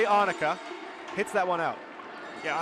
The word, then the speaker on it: Ahnika: I know I got pronunciation, maybe Kuse. It's definitely Ahnika.